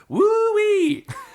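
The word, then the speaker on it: WHOI: the acronym which is genuinely meant to be pronounced wooe I I swear to God look it up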